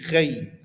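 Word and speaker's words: غين: ayn, it will be ghain. Ghain. Okay, ghain. Similar to the majorities of using on R sounds in French.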